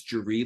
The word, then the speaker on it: Georgy: His name is like spelled like Jer, but it's Georgy Longman.